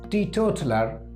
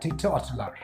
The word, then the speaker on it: teetotaler: इसका सही प्रोनाउंसिएशन होता है टीटोटलर, टीटोटलर एंड टीटोटलर। One who does not drink alcoholic things is called teetotaler, teetotaler and teetotaler.